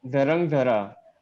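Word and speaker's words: Dhrangadhra: It is Drangadra. I'm sorry. It is difficult to pronounce. It is Dharangdhara.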